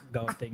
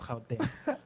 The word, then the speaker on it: Gauteng: It's not pronounced Gauteng. It's pronounced Gauteng.